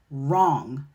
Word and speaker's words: wrong: Another pattern is the silent W in the WR combination. WR will appear at the beginning of words. When we see this, that W is silent and we're going to pronounce the R sound, like right, wrong, wrist.